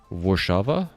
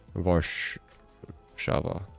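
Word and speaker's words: Warszawa: Guess that sort of makes sense, because like a lot of countries don't pronounce W's the way that Americans pronounce them. Like usually a W is more of just like an extended V, I believe.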